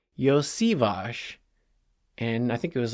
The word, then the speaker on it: Iosivas: people are calling him Yoshi. And first of all, he's not. So people were like, oh, he must be Japanese. And he's not Japanese. And his name is not pronounced Yoshi. So it's Iosivas.